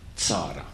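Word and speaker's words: צרה: namely the fact that the Yiddish word tzure means misery or trouble, and that this same word in Hebrew is pronounced tzara.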